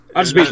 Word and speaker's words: Arswit: Vale, pues vamos al siguiente, que es Arswit. Arswit, W como una V.